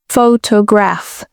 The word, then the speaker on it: photograph: For example, take the word photograph. The stress is on the first syllable, photograph.